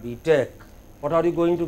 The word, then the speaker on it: B.Tech: Not B.Tech, but B.Tech.